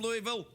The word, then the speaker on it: Louisville: I always like to say it properly like I'm from Louisville.